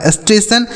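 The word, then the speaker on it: station: तो एस से आधा स हो गया। इस टी ए से टे हो गया और टी आई ओ एन का उच्चारण क्या हो गया सन या लिखा गया आपका स्टेशन स्टेशन मतलब तो होता है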